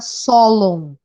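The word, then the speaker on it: Sólon: por um cara chamada Solon mesmo solo s o l o m não s de sapo ou de ônibus LD lápis ou de ônibus n de navio e acento na primeira sílaba solo nome dele acho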